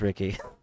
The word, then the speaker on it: Rixie: Is it still pronounced Ricky with the X, or is it Rixie?